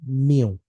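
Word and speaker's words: μ: हाउ to pronounce it, we pronounce it म्यू।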